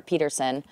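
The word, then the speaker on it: Pederson: excited for them and Doug Patterson to the coach or Peterson Peterson um yes excuse me it's a tough one it's spelled yeah it's spelled Patterson but yes also someone relatively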